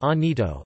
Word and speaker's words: Llanito: Gibraltarians often converse in Lenito, pronounced Anito, a vernacular unique to Gibraltar.